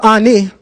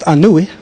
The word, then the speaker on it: Ani: the Papas of ani or better pronounced anui now that I could read The Meta I actually no there's a difference Ani is not how you pronounce his name cuz when you look at the glyphs it would be anui Ani has been weighed